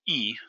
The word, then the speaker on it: y: time you would use E, the letter Y in Spanish, would be between that 10 and that 1 from the 30s to 90s. You don't put and, the letter Y, pronounced E, anywhere else when writing